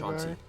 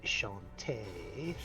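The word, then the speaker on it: Chauntea: Chanti. a Chanti. No, It's a I'm goddess. a barbarian. Actually, I believe it's pronounced Shantae.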